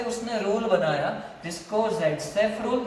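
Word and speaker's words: Zaitsev: तो उसके लिए अलेक्जेंडर ज़ेटसेफ या तो फिर सेटजेप, उसका प्रोनाउंसिएशन सेटजेप की किया जाता है, उसने रूल दिया, उसने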